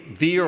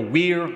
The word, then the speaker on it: Were: Veer or Weir, I think his name should be pronounced Veer, I'm not sure.